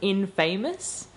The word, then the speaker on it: infamous: Infamous is always pronounced as infamous.